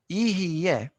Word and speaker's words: יהיה: Ihiyeh, it's not an easy word to pronounce.